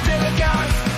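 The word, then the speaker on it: DILLIGAF: A word, Gilligan, that's spelled D-I-L-L-I-G-A-F, Gilligan.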